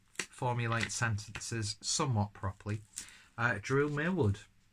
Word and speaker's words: Millward: sentences somewhat properly, Drew Millward. See, even when I actually get his name right, I pronounce it terribly wrong. I think in the past I've called him Drew Millard.